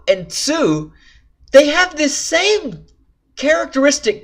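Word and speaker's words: つ: And that is because these 2 characters are not pronounced T and Tu, but Chi and Tsu.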